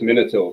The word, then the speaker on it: Minotaur: The correct answer is Minotaur because he's named for King Minos. Minotaur just means the the ball of Minos.